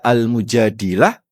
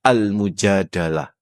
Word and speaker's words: Al-Mujadilah: Bisa dibaca almujadilah, bisa dibaca almujadalah. Jadi kalau Bapak baca al-mujadalah itu artinya perdebatan antara haulah sama Rasulullah. Tapi kalau Bapak baca almujadilah, perdebatan seorang perempuan kepada nabi. Saya lebih senang bacanya almujadilah.